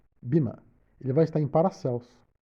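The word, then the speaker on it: Böhme: ele vai estar em, vou pronunciar o nome, B-O com trema H-M-E, Bima.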